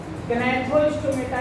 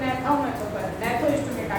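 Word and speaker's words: Gnathostomata: ये जो super class गनाथ स्टोमेटा यानी था मतलब माउथ अब कुछ लोग इसको ने थो स्टोमेटा कहते हैं कहते हैं कि जी एब्सेंट साइलेंट है ट नहीं हैथ ये अब आपका एक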